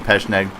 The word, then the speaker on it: Pecheneg: I've heard some guys on YouTube joke and call it the PKP Pecheneg, but all joking aside, that's not really the way it's pronounced. I'm pretty sure it's called the Pecheneg.